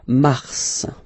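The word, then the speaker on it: mars: So, in a way it's an exception because normally final S is not pronounced in French. Okay. We've got some exceptions and this one is one of them. So Mar pronounced the final S.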